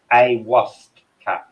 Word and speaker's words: ayahuasca: It's pronounced ayahuasca.